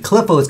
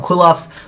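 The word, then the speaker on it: Qli: later on with the clios come out which is another Arch type I used to call them kofs but they are actually pronounced clios uh but anyways before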